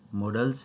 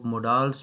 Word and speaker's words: modals: बहुत से लोग इसको मोडाल्स प्रोनाउंस करते हैं, लेकिन ये मोडाल्स नहीं, मॉडल्स होता है।